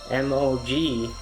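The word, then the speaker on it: 魔鬼: And what you may not know about mogwai, so in the movie it's spelled Mogwai, or that's how it's spelled here, but in Chinese culture it's actually Mogui.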